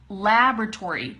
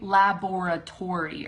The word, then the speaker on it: laboratory: And then laboratory. Don't say laboratory or something like that. Say laboratory, okay? Laboratory. And then the emphasis is right there in the front.